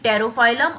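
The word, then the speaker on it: Pterophyllum: तो वो 2 फिशेज हैं हमारी तेरा बेटा यानी कि टेरोफाइलम और बेटा। तो हालांकि ये चालू तो पी से हो रहा है, लेकिन जब हम प्रोनाउंस करते हैं तो टी ही हमारा पहले आता है, इस वजह से मैंने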